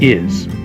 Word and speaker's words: hay: I, remember the H? We don't pronounce that. So the word is I, and it means there is or there are.